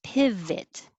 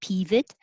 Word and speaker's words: pivot: or ot it's it pivot it's the same vowel in both syllables piv so keep your tongue lower not high it'll sound like pivot piv keep it a little lower pivot and you um i